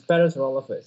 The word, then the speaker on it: Parasaurolophus: I challenge you to pronounce Parasaurolophus.